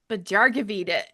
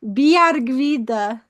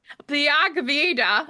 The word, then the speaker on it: Bjargvide: and uh PhD in awesome epic Bjargvide. Oh I my, butchered that. How great was that? that was amazing. It's actually pronounced Bjargvide. Bjargvide.